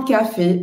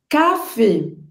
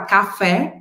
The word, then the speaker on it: café: pronúncia desse acento agudo cafê dejun a gente observa que o acento agudo no francês diferente do português tem o som fechado então a gente não vai falar café aberto a gente vai